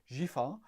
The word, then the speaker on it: Giffard: I tell you, once you go Giffard, no D, Giffard, Framboise de Rance.